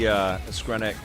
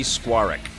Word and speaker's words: Skwarek: Skwarek. That's how you say it.